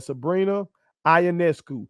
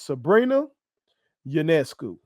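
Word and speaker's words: Sabrina Ionescu: a I was saying Sabrina ayesu and thought I was doing a good job I'm pronouncing that that a how you pronounce it that girl's name is Sabrina janesu and I'm going to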